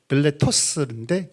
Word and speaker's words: 밀레토스: 정확하게 헬라식 발음 밀레토스인데 우리 번역 밀레도로 번역했죠.